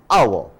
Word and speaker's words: hour: is important such as a house but an hour why our is pronounced as a vowel house is pronounced as